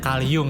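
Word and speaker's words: Carl Jung: kalium yang ini fotonya tulisannya call Jung tapi dibacanya kalium ya Nah dia ini punya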